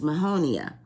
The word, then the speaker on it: Mahonia: a Latin name and its Latin name is Mahonia and it's spelled m-a-h-o-n-i-a Mahonia and so when we think of the